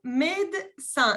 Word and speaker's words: médecin: Médecin. No se pronuncia la segunda E.